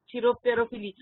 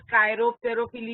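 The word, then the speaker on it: chiropterophily: चिरोप, चिरोप, CHIROP, चिरोप। तेरो, TERO, तेरो, फिली, चिरोप तेरोफिली। उसको बहुत सारे टीचर्स कायरोप तेरोफिली भी बोलते हैं, बट हम लोग उसको चिरोप क्यों बोल रहे हैं?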